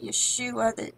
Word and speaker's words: Yeshua: the word Yeshua and the Hebrew was actually pronounced Yeshua the J and the King James are in